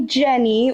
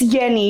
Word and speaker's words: Yenni: A lot of people call me Jenny, which I don't really mind, but I I do low key, just because I feel like it's it's Yenni, you know? Like, if it's with the Y, say it correctly.